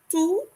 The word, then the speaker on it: tout: Tout. Notice the final T is not pronounced. We just say tout. And the OU sounds like the English double O.